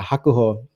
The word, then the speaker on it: Hakuho: to my ear it sounded hilarious but yeah hakuho um he is currently like the winningest catch